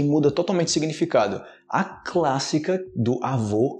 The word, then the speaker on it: avô: do avô e avó quando eu falo avô em português eu tô falando do pai do meu pai ok homem OK avô o o como fala avó é a mulher amanhã na minha mãe e minha avó a pronúncia no final desse o é muito diferente em português qualquer brasileiro sabe a diferença mas a galera tá